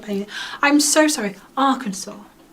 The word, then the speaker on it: Arkansas: looks like Michigan but when something says a r k a n s a s and you say Arkansas it's like well it